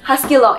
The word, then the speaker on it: HuskyLock: And this is the, I'm going to pronounce this so wrongly, Husqvarna Viking HuskyLock S25. Am I right? Yes, HuskyLock S25.